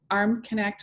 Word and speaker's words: Armknecht: is using my full name which is armconnect and i'll spell that it's a-r-m-k-n-e-c-h-t so arm connect